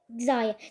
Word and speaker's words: Xayah: I don't know why I pronounced that. It's called Xayah.